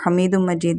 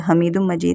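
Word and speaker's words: حميدٌ مجيد: है हमीद उ मजीद तो वो हमीद उ मजीद है हमीद मजीद नहीं है तो इन चीजों का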